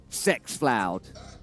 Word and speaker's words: xFloud: How's it pronounced? He goes, Sexfloud.